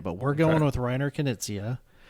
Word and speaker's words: Knizia: But we're going with Reiner Knizia.